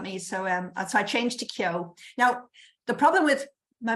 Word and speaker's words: Keogh: good in a book, except people can't pronounce it. In the UK, I get all kinds of Keough and Kieff and all kinds of strange pronunciations.